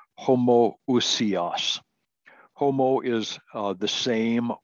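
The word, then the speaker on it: homoousios: really important word uh we pronounce it homo usias homo is uh the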